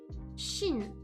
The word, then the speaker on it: Chine: China is Chine. Français and France is the same pronunciation.